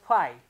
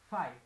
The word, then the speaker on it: phi: And this sign is known as phi, okay? Phi. That means P as I, phi, okay? Phi. While pronouncing to this one, we need to say phi.